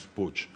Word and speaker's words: Puig: que por eso Como mi abuelo materno venía de Barcelona es puch Pero es verdad que también en algunas regiones de España se pronuncia puig con lo cual yo